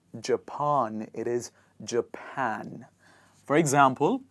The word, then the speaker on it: Japan: not Japan, it is Japan. For example, like you have a pan that you cook the gravy in, that you basically cook your vegetables in, you say Japan. One more time, Japan.